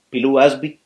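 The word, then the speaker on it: Pilou Asbæk: Pilu Asby, sí, así se pronuncia, como Batu, muy bien en realidad.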